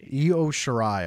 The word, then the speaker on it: Io Shirai: And how do you pronounce her opponent's name? Because I don't want to botch Io Shirai. Io Shirai.